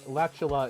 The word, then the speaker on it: Latula: I pronounce it Latula, so you pronounce it Latula. Yeah, Latula is how I would. It rhymes with spatula.